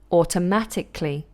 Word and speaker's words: automatically: Okay, so here's how you pronounce them. Technically, so it would be technically, practically, automatically, mechanically, psychologically, and historically. It becomes what's called a lateral plosive.